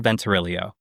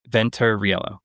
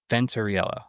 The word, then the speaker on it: Venturiello: Please welcome Venturelio. Did I say it right? Venturiello. Yes, that was Sorry, I wasn't even listening. I was catch up. I'll try one more time. Venturiello. Right.